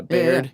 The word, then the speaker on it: Baird: It's like if you spelled the word beard, but you switch the A and the E. Oh, so okay. Bae. Baird. Yeah, Baird.